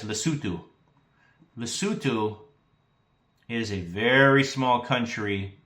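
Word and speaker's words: Lesotho: You would think it's pronounced less so but it's lutu.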